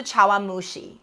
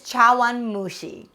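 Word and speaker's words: 茶碗蒸し: cup in japan is the representation of the chawamushi and we mentioned earlier that we're also going to learn the japanese pronunciation for this dish in japan they use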